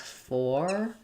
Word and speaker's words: foreigners: And then we have the and the letter S says the Z sound. So I would write it as foreigners.